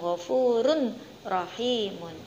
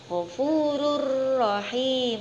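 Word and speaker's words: غَفُورٌ رَّحِيمٌ: bertemu dengan huruf rokok maka cara membacanya Taqwim harus dimasukkan ke dalam huruf ro yaitu gofururohim untuk bukan khurun rohimun salah ya yang betul adalah gofururohim Uni Nah itu tadi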